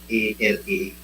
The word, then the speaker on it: Alake: It is spelled Alake.